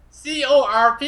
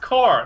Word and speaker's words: Corp: some FR myself though that word c o r p is pronounced core not Corp oh I said I